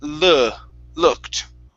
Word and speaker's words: looked: the helicopter okay so instead of saying looked okay open your mouth all right on that vowel sound instead of lu it's looked he looked and he looked